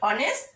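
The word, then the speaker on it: honest: তারপরে আছে দেখো কোনো ওয়ার্ড এর উচ্চারণ যদি প্রথম অক্ষর যদি এইচ হয় এবং এইচ এর উচ্চারণটা যদি অনুচ্চারিত থেকে যায় তখনও কিন্তু তার পূর্বে অ্যান বসে। যেমন mister Rahman is an honourable person বা mister Rahman is অ্যান অনেস্ট teacher. কেমন, উচ্চারণটা এইচ এর উচ্চারণটা অনুচ্চারিত থাকার কারণেই কিন্তু এখানে কি বসছে? অ্যান বসছে।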